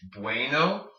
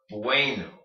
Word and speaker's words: bueno: say good in Spanish bueno it's like saying be then wait way then no bueno bueno bueno bueno giving